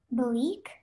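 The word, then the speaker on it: Belleek: Bleak? Yes. Can I have all the information, please? Yes. The word is pronounced bleak.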